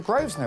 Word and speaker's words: Grosvenor: things I see we've got the name the Groves know it sounds posh you don't pronounce the air first now that keep it